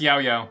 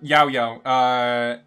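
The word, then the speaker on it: Yaoyao: She's pretty good for Yao Yao. Y-A-O, Yao Yao. But yeah, that's how you pronounce it, I suppose.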